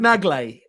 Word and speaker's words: Nagley: I just like saying it like that, but is it Brad Nagal? It's not Nagal. Brad Nagley. Like that. Oh my god, fucking! No, Brad, I've lived my whole life. Bradley Nagley.